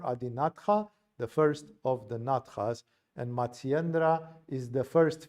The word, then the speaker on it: Natha: school called Nath Sampradaya, Natha, if you want, for Westerners. The Hindus don't pronounce the final A, as I said it in the Sanskrit language workshop a few days ago.